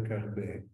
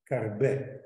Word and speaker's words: Carbè: È la prima monografia con due M, Carbè con l'accento grave sulla E.